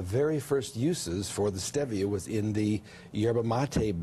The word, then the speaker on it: stevia: People see the word because it looks like stevia, but the correct pronunciation is stevia.